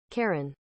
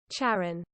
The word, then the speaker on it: Charon: Oh, Karen is the American pronunciation. And I'm American, so I win. Karen. Sharon. British is Charon, American is Karen. But what's probably the accurate one? Pronouncing it. For reference in Greek, this is said as Charon. Charon? Charon. Charon. However, in English, it is usually pronounced as Charon.